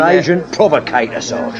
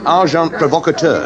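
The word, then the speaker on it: agent provocateur: And agent provocator. Amazing. Packar. The pronunciation, however, is arjant provocator.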